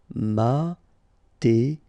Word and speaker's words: mathématique: Mathématique, remember, H doesn't exist, so mathématique, remember, Q-U-E at the end, K, mathématique. Médical.